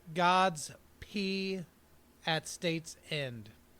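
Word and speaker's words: G_d's Pee: It's called God's P at State's End. And God is spelled lowercase g _ d apostrophe s, God's P, which I guess kind of sounds like Godspeed.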